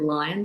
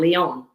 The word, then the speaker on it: Lyon: And I have to say, the street that I live in is called Lion Street. No. And it's spelled like the French line, Lyon.